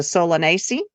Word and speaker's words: Solanaceae: were talking about, the Solanaceae. It could be Solanacea, also depending on how you pronounce it. Either one is correct.